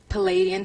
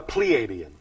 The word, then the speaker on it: Pleiadian: any relationship to the palladian civilization do you mean the pleiadian yes thank you for the pronunciation yes and the next